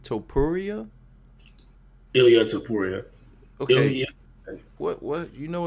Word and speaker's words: Ilya Topuria: Ilya Topuria.